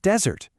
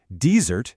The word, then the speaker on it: desert: Same with desert. Desert is the dry, sandy place, but desert means to abandon someone. Shifting that stress completely flips the word's identity.